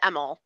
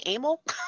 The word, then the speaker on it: Emil: you guys yeah thomas well we pronounce it emel thomas emmel but um when i told my grandfathers the name they were they they both said oh you mean amal so i guess i missed that generational thing yeah it's